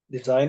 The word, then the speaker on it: design: Des sign it okay this is not s but this is Zed design it design okay and notice that